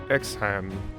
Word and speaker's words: Exharme: honor of the holy state of isaiah marshall exhan that's how you say it fighting for the